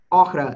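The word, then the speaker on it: охра: And it was used as a container for some okhra, it's how you say it in Russian.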